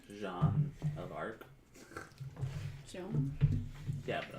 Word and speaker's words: Jean: Jean. It's like John. Jean. Sean Valjean. But it's spelled like Jean.